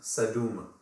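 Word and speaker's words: sedm: uh s m but to make it easier to pronounce we also pronounce the u in uh the before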